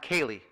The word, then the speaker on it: Kelly: um teacher and coach mr john kelly pronounced kaylee i've come to find